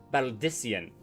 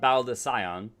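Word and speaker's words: Baldesion: This is the students of Baldician, not Baldicion.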